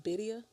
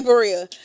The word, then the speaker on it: birria: You know it's pronounced Bidia? Like birria. They said it's Bidia. You just roll your R's because it's two R's. Birria. Sure. We say Berea.